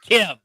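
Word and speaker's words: Kh'ymm: KH apostrophe YMM. But it's pronounced Kim.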